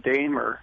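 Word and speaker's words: Daimer: By the way, my last name is pronounced Dahmer. Oh, I'm so sorry. Dahmer. So think Daimler-Benz and take the L out, and you have me.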